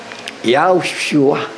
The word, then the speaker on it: Yahushua: Kaya nga, Ang proper talaga yung pagbigkas ng tamang pangalan. Yahushua.